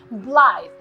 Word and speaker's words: blithe: It is an adjective and it has a magic E at the end, blithe.